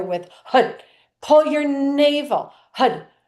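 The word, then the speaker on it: Har: So it'll go like so it'll go Hud Hud Hud Hud and you'll hit but we'll chant the mantra h a d.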